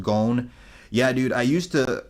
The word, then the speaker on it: Gon: That is why Nick, it's pronounced Gon. Yeah, dude. I used to I used to pronounce it like Gone, but if you go back and watch my